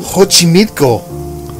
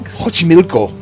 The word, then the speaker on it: Xochimilco: Xochimilco.